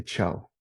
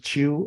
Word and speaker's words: Chou: was born in Taiwan, so this is CHOU. Okay, Chow. Some people pronounce it as Chew. I'm okay. I actually don't mind.